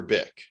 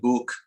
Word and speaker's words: Byk: Comrade, is it Bike or Bic? No, it's BYK. It's Comrade Buk, because it's pronounced in the Russian tongue.